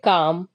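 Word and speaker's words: calm: एम है तो यहां पर भी एल वर्ड साइलेंट हो जाएगा तो सी ए एम हम पढ़ेंगे काम क्या पढ़ेंगे काम काम का मतलब होता है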